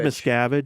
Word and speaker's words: Miscavige: David Miscavige. Miscavige, okay.